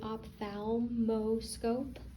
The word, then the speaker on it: ophthalmoscope: m o s c o p e basically ophthalmoscope ophthalmoscope um the location of your aqueous humor